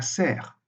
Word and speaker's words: cerf: On a bœuf, avec prononciation de la consonne finale, mais on a cerf, sans prononciation de la consonne finale.